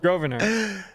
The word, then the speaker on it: Grosvenor: Grosvenor. Sure. Yeah. Yeah, that's right. Nailed it. Grosvenor.